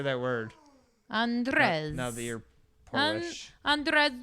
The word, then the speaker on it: Andrzej: Andrzej.